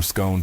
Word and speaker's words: scone: Cause is it scone to rhyme with stone or scone to rhyme with gone?